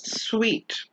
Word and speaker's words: suite: pair is suit versus sweet remember the one with the e at the end is pronounced sweet the word suit has